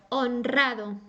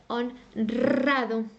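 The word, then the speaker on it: honrado: that's the exception okay another example would be onrado it goes after an n as I said before so it's gonna sound on drado it's gonna sound strong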